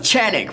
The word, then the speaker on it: Canik: Not a regular review this time, but a Redeemer review yet again, the second time, of this Canik, also known as Canik, which is actually a correct pronunciation, but we call it,